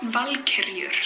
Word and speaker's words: Valkyrie: my pronunciation, Valkyrie, but in my defense, it is actually pronounced as Valkyrie.